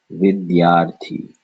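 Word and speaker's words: विद्यार्थी: Vidyarthi.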